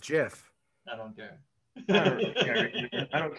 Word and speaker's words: GIF: the entity said oh is it gif no it's jeff it's pronounced jiff i don't care i